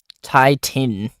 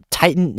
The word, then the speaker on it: titin: Titan. Titan is pronounced the same. It's basically pronounced the same.